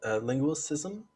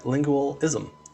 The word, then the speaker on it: linguisticism: quick note saying that i mispronounced uh linguisticism uh it was supposed to have been i i said lingualism uh so it uh she